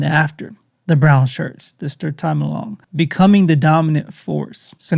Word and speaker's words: Sturmabteilung: and I'm going to show you how to pronounce that if you even care, which you probably don't, but it's, Sturmabteilung.